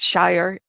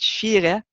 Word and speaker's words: Shire: Unfortunately, the site is not pronounced Shire. It's actually pronounced Shire.